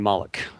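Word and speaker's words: Molech: Um, yeah, I titled it cult reality of Lilith and Mollik. Uh, Malikica is spelled M O L E C H.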